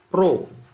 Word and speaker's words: rho: Rho, ini bacanya rho ya, rho itu hambatan jenis, itu satuannya adalah ohm meter.